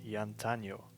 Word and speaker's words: Jantanjo: So my username on YouTube is Yantanyo. Note that the J's are pronounced like a Y. It's not Jan. Alright, it's Yan.